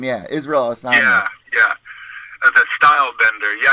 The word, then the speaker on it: Israel Adesanya: Israel Adesanya. It's a weird name. Yeah, Israel Adesanya.